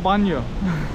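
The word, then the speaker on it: baño: Evet, banyosta banyo. Bak banyonun yazılışı böyle. Şu ne? Ne y diye okunuyor. Banyo.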